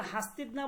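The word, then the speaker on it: هستید: তারা এই দালটাকে নুন ধারা পরিবর্তন করে উচ্চারণ করে। ঠিক আছে? তখন তারা হাস্তি না বলে কি?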